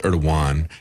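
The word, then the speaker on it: Erdoğan: And I understand it's Erdogan. Yeah, he corrected me in this. I've been using the southern pronunciation here, but this is a lawsuit that's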